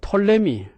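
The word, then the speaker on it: Ptolemy: 그 다음에 그 성서와 이집트 문화에서 우리가 뺄 수 없는 것이 그 톨레미, 어떤 사람은 푸톨레미라고 발음합니다만은, 그러나 피자가 묵음이 되어서 톨레미 왕조 때에 그 70인역 성경 셉투아진트가 이집트 알렉산드리아에 있는 그 파로스 섬에서 번역이 이루어졌습니다.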